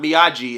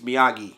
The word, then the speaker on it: Miyagi: Not Miyagi, it's Miyagi.